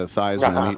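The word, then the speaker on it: Theismann: It's it's crazy these days, but beating uh Thesman, who changed his pronunciation to Thyman.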